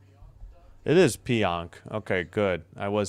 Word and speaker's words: Pionk: All right, looks like it is Pionk.